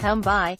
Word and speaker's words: Tabai: and Chiefs assistant coach Tabai Mopson, whose first name is pronounced Tumbai, with a silent M.